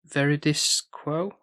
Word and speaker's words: Veridis Quo: And we get to veridis quo and that's how you say it where and that's this